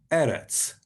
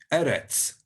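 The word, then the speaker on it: ארץ: means the land so you pronounce land in hebrew eretz eretz you can see the little t with the line underneath it means it's a sound so that the land in hebrew is eretz next one the messiah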